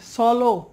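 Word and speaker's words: slow: come স্লো স্লোলি বাট অনেক educated লোক তারা এটাকে বলে সলো ভাই গাড়িটা সলো চালা সলো এই সলো এটা হচ্ছে ভুল আমাদের সলো থেকে ফিরে এসে সঠিক উচ্চারণ করতে হবে সেটা হচ্ছে স্লো স্লো টক স্লো নেক্সট তারপর হচ্ছে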